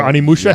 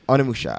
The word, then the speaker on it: Onimusha: Animusha. How do you say that Yeah. game? Onimusha. I was just arguing it last week.